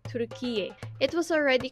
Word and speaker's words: Türkiye: By the way, the correct pronunciation and spelling of the country is Türkiye.